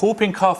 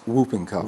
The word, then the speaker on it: whooping cough: There's a W. There is a W, and you pronounce it.